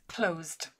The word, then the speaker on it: closed: And the correct answer is closed, which is just one syllable.